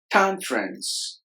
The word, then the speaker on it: conference: finally age age conference conference both days are silent Khan friends conference question lions lines the